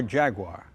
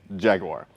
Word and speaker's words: Jaguar: UK they think that Americans over pronounce the third syllable in Jaguar because it's almost a mute syllable but it has to be there so it's not Jaguar it's Jaguar so depending